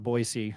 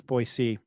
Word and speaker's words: Boise: It's not Boisey, it's Boyisee. Um, it's not with a Z, it's a C.